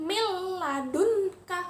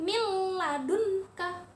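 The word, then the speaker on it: مِن لَّدُنكَ: huruf lam atau rok maka cara membacanya adalah dengan memasukkan atau mentasydidkan Hai tetapi tidak dengan dengung contohnya Hai mil ladunka Hai mil ladunka huruf nun sukun nya jadi lebur masuk ke huruf lam Hai tetapi tidak berdengung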